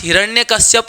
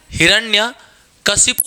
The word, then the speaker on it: हिरण्यकशिपु: हमारे पास हिरण्यकश्यप नहीं, हिरण्यकशिपु शब्द शुद्ध मिलता है, ठीक है।